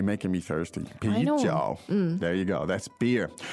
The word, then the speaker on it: 啤酒: pijiao. Now, the tones there are Second and third. good, second and third. Let's hear that again. 啤酒。啤酒。 Stop saying that, Jenny. You're making me thirsty. I know. Pijiao.